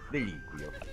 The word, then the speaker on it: deliquio: Accento sulla prima I. Ah, sì, deliquio.